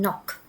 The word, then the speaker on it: knock: In these words, the K is silent. So, we don't say uh the pronunciation of K rather we just say and knock.